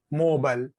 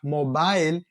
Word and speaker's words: mobile: For example, mobile is the US pronunciation, but mobile is the United Kingdom pronunciation.